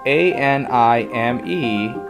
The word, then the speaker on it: anime: The word is spelled A-N-I-M-E and is short for animation. It's pronounced anime.